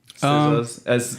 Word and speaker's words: SZA: SZA's. It's stylized SZA, pronounced, but it's just SZA.